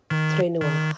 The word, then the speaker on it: Trinua: It is pronounced Trin, Trin, and New, Newah. Ha, Trinua.